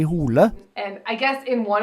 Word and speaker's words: Hole: what so ever so I guess in Norwegian it's supposed to be pronounced like Ed Hardy hula and I guess in